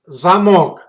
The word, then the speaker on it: замок: If stress goes to the second syllable, it's zamok. But if the stress goes to first syllable, it's gonna have completely different meanings.